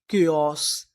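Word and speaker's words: chaos: CHA, इसे हम लोग यहाँ पर पढ़ेंगे के, जो हमारा CH होता है उसे क्या पढ़ते हैं, का। तो इतनी मीनिंग के, आगे लिखा है ओ, के ओ एस है, केओस।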